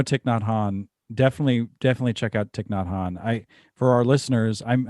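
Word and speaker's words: Thích Nhất Hạnh: just as basic as learning how to pronounce ticknot han. Like seriously. Yeah, man. You look at that. How do you say that? Well, it's ticknhan.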